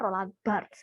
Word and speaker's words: Roland Barthes: Kalau lidah Jawa emang enak Roland Barthes. Atau kalau memang pelafalan yang benar adalah Roland Barthes, ES-nya nggak usah dibaca.